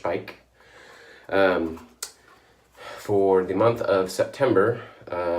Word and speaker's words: Speick: know the branch spike which is German so it's not pronounced speak like we would try to pronounce that in English it's pronounced Pike for the month of